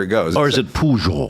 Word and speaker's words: Peugeot: Or is it pujo? It's pujo. Pujo pou. You have to say it with a little French.